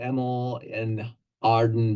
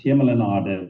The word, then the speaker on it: Hemel en Aarde: We're looking at the Emil and Arden Valley. Did I pronounce that correctly? Very close. Hemel en Aarde means heaven and earth in Afrikaans and Old Dutch.